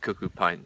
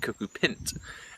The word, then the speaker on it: cuckoo pint: at least I always used to call it cucko pint till I recently discovered you should pronounce it cucko pint and pint is short for pincel shut up